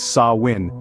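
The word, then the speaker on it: Samhain: harvest season culminated they celebrated a festival called samhan pronounced as saw win marking the end of Summer and the onset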